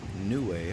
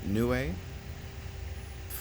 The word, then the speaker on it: Niue: If we look closely, we can see public seal of Niue, I believe is the pronunciation. Niue.